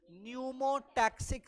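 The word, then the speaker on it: pneumotaxic: मिलेगा called न्यूमोटैक्सिक centre, P से लिखा हुआ है, पी साइलेंट होगा, पी साइलेंट होगा, और प्रोनाउंसिएशन में क्या पढ़ेंगे उसको, न्यूमोटैक्सिक सेंटर।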